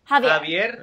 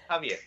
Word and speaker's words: Javier: What is the correct pronunciation? Because I'm horrible with names. Javier. Javier.